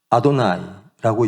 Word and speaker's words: 아도나이: 그래서 거기에서는 우리가 원래 지금 유대인들도 야외를 그렇게 야외라고 읽지 않죠. 뭐라고 읽죠? 아도나이라고 읽죠. 아도나이.